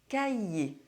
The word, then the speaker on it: cahier: There are two cases where the R is not pronounced. First, masculine nouns ending in -ER and -IER: Le cahier The notebook Le premier